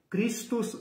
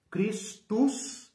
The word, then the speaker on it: Christus: Christus, C-H-R-I, né, como em inglês. Christus, né, final latino, né? Christus, tá? C-H-R, tá? Como se fala em inglês, mas com o final latino, Christus Victor, que significa Cristo vencedor.